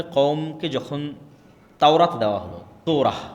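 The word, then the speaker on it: תורה: মুসা আলাই সালাতু সালামের কওমকে যখন তাওরাত দেওয়া হল তোরা বলে ইহুদিরা উচ্চারণ করে তোরা।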